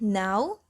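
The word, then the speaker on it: gnaw: written english for example k and g are no longer pronounced before the nestles but we still write the words knee and now with the remnants of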